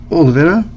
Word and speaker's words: Oliveira: And then our additional person is going to be, it is spelled Laudirde, and then Oliver, or Vira. Oliveira on congas, which he definitely plays a lot on some tracks on the next one, for sure.